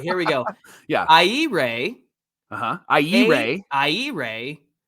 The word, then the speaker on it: Ehire: I don't all right here we go yeah I Ray uhuh I Ray I Ray adrianza adrianza a adrianza yeah so it looks like ehire it's a every dayers say it with me